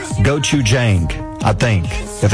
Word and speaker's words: gochujang: I think it's pronounced gochujang, I think.